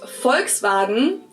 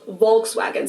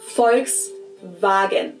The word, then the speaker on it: Volkswagen: But even if we did go by the full name, it would be pronounced Volkswagen and not Volkswagen. So just imagine that it was spelled with an F and V instead. Volkswagen.